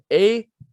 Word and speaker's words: Akeem: And the great story is his name here is spelled Hakeem, A-K-E-E-M, not H-A-K-E-E-M. Not Hakeem, it's Akeem.